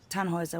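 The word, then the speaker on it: Tannhauser: thought about it why what's your name tanhauser we'd pronounce it tanoa with an German Roots yes my grandpa these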